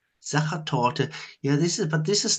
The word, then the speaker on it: Sachertorte: Is it Sachertorte or Sackertorte? Sachertorte.